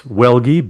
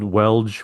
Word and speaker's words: Welgie: Uh, my last name is Welgie, but I get called Welge. Wel, all kinds of different thing, but it's Welgie.